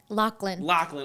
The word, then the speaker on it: Lachlan: I know it's 2 syllables. I'm about to say Loveland, but I'm wrong. Lachlan.